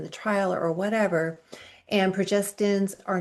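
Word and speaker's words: progestin: the um estrogen progesterin you notice how I'm pronouncing progesterin not progesterone because it's two very very different things and too many people and even in reports say progesterone when in fact it is progesterine that was used in the trial or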